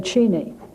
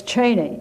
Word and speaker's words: Cheney: Ford White House that he had pronounced his name cheni but when President Ford called him Cheney he said well if president if the president says that's my name it's Cheney and it has been ever since is this true